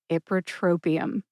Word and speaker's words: ipratropium: error and I do say it correctly today ipratropium if you are learning this drug name for